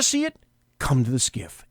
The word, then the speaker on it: SCIF: if now you may not know what a skiff is it's an SCIF SCIF it's pronounced gift that's called a sensitive compartmented information